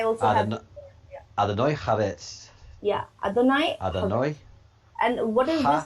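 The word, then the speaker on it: אדני: Name of God, Adoni Haaretz. Adoni Haaretz. So please help me in the pronunciations. I also have... Adonai Haaretz. Yeah, Adonai. Adonai And what is this pronounced?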